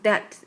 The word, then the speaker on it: debt: 근데 B가 묵음이야. 그래서 that 이렇게 발음하는데요.